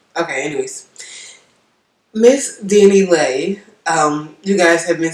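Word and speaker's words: Dani Leigh: to start with miss danny lay yes it's lay because that's what miss um miss martinez pronounced it because i'm going to danny lee like i don't know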